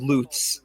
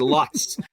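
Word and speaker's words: Lutz: a beautiful suburb that I was also told is called loots uh I was pronouncing it Luts for a long time uh the residen in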